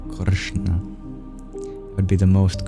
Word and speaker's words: Krishna: place of articulation we curl our tongue back kishna kishna kishna would be the most correct pronunciation it's a retroflex or retroflex n and